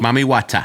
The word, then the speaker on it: Mami Wata: in 2017, you started a clothing brand, Mami Wata. Yes. Pronounced correctly. Mami Wata.